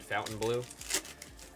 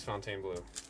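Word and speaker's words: Fontainebleau: of that hotel though, I didn't read it carefully and I just said Fountain Blue. Thank you for saying the word. I get triggered when people say what? Fountain or Fontaine? Oh, no. It is Fontaine blue. I was saying fountain because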